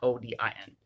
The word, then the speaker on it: Odin: He is pronounced O-D-E-N, not O-D-I-N, as they believed he